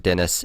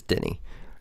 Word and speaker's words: Denis: going to be, because Denis Villeneuve was directing it. He's a French dude. I just heard his name pronounced recently, and even though it looks like Dennis, it is Denny.